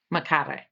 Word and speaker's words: Macare: Macare. So, you roll the R.